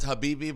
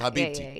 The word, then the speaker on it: Habibti: Because I read it and I went, is that Habibi, but it's the silent T or something? Okay, it's Habibti.